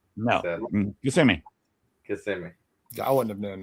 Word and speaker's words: Kissimmee: Yeah, they'd be kissing me, and I'm like Kissimmee. No, Kissimmee. Kissimmee. I wouldn't have known that. Yeah, no, they'd be like Kissimmee. It's spelled just like it, but it's Kissimmee.